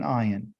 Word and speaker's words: ayin: So this letter right here, everyone, this first letter here is called an ayin. And it sounds like the word I, because that's what it is.